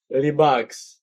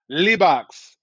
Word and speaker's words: Libaax: Is it pronounced Libaax? Libaax. Libaax.